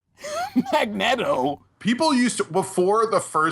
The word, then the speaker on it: Magneto: That's like the people who say like Magneto instead of Magneto. Magneto.